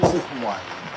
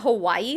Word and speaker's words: Hawaii: Notice how he said Hawaii that time not Hawaii. He was saying Hawaii before and I think if you've lived there your whole life I think that's how you pronounce it.